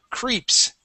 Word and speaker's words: creeps: word is the word creeps cre creeps creeps okay give me an e sound this is when you can pronounce that Spanish e okay creeps creeps creeps